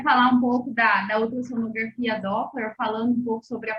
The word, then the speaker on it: Doppler: Que eu tenho uma que a gente voltaria a falar um pouco da ultrassonografia Doppler, falando um pouco sobre a parte de acurácia.